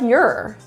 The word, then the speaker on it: you're: are turns to your it's the same pronunciation as the other grammatical term y-o-u-r it's pronounced the same so it can sound like you're you're instead of you